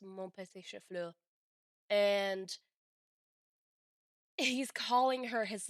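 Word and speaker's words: mon petit chou-fleur: And then she says, actually, and what he said is actually supposed to be pronounced mon petit chauffeur.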